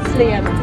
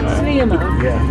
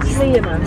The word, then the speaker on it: Sliema: How do you pronounce it, Georgia? Sliema. Not Sliema. Sliema.